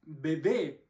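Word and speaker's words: bebé: Тогда это должно быть «бэ-бэ», ударение в конце.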